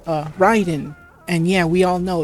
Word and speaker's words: Raiden: name is supposed to to to be be pronounced, but, you know, for a fact that it isn't. It's uh, Ryden. And yeah, we all know it's Ryden cuz think about it.